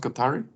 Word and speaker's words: Guattari: But how did you choose Deleuze and Guattari? Is it pronounced Guattari? Yeah, Guattari, Felix Guattari.